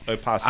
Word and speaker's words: opossum: It is spelled Opossum. What's the O for? Yeah, it's silent. So take it out.